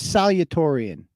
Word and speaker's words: salutatorian: Is it pronounced salutatorian? I thought it was salutatorian.